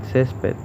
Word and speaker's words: césped: O en césped, que vemos que el acento fonético recae en ces.